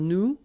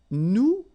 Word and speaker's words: nous: if you remember correctly, so final S is not pronounced here. Okay, and then this ON, so it's a nasal and it goes in your nose and it goes like on. All right, so you don't hear any N, so it's really on.